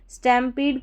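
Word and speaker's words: stampede: एस टी ए एम बन गया stem और फिर है पी ई डी ई इसको पीड करके पढ़ेंगे क्योंकि लास्ट में जो ई है वो साइलेंट है तो पी ई डी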